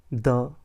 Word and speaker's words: the: ইফ দ্য next word starts with a vowel sound, যদি পরের শব্দের শুরু স্বরধ্বনি দিয়ে হয় তাহলে আমরা সেখানে অবশ্যই দি উচ্চারণ করব, কখনই দা উচ্চারণ করব না।